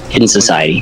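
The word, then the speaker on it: HIDDNSOCIETY: n s o c i e t y hidden Society put the link in the description right there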